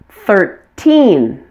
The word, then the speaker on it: thirteen: 10 notice the stress say the teen numbers strongest on teen and the numbers ending in zero are stressed on the first syllable repeat after me thirteen thirty fourteen forty fifteen